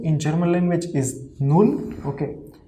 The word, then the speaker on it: null: in german language is null okay first of all the first two alphabets is n and u it will be nu and double l will be low okay so okay then the